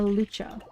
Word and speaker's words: lucha: How to pronounce a lucha?